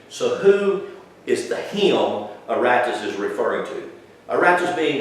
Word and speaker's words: Aratus: His name was Aratus, A-R-A-T-U-S.